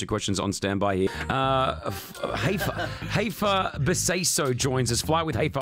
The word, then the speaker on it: Beseisso: I'm not sure if my uncles will say it like that, but yeah, it's Beseisso.